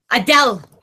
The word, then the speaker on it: Adele: Uh, Dell. Like a farmer in the Dell. Adele. Adele. Is that right? Yes. Adele.